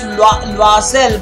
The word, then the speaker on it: Loisel: It's Loisel, by the way. The correct French pronunciation is Loisel. Imagine the spelling was L-W-A, but you can say it as Loisel. Okay, there are two different acceptable pronunciations.